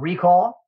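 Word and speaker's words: Reqall: a website that we've we haven't it's called recall and it's spelt r-e-q-a-l-l recall i love it i actually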